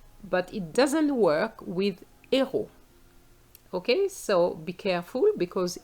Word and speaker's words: héros: Now, I use héros. Even though it's an H, the word begins with an H, but the H is silent, so we have a vowel sound.